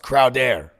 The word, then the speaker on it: Crowder: It's pronounced Crowder.